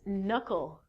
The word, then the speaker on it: knuckle: not it's knit and the next one is knuckle knuckle is the place on your hands we